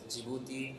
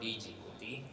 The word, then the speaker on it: Djibouti: I used to call it Djibouti so the pronunciation is jouti and not Djibouti so that is the time I first went